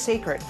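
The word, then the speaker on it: Cécred: It's spelled C-E-C-R-E-D, but pronounced Sacred.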